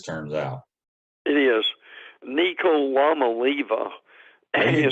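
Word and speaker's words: Iamaleava: pronounce that um and the only reason I do it is I divide it between the llama and Levi so that makes it a little easier for me but Joe Milton and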